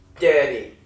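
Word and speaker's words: तेरी: Teddy. It's spelled T-E-R-I. You gotta roll the R, which is why it sounds different than what you're using it to say.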